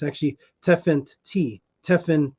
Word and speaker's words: Tefnut: the great cat and the T at the end makes it feminine so it's actually te Fenty and they pronounce it tefnut as if it's n-u-t but it's actually teffant tea tefan T like